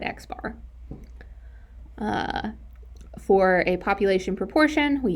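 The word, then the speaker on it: x̄: For a sample mean, we use X bar. That is how you pronounce it. It's an X with a bar over it, and we call it X bar.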